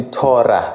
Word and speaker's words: Torah: No hey naye kuyenzeka abe silent uma ezoba sekugcineni kwegama, njengegama elithi Torah.